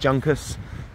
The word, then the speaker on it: Juncus: I believe it's pronounced Juncus, J-U-N-C-U-S.